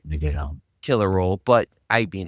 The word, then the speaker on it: Leguizamo: I believe it's pronounced Leguizamo. John Leguizamo. It's Leguizamo.